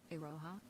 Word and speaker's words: Iroha: Okay, so the O is a little short and the Ha is a little short.